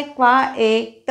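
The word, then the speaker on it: quiet: जचा गड़बड़ गोंधल होतो क्यू यू आई ई T spelling पहा अर्थ है शांत उच्चार है क्वा एट क्वा एट क्वाइट शांत दूसरा असा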